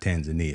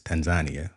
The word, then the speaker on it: Tanzania: we going to Tanzania that's how they say it it's not Tanzania it's Tanzania so we we going to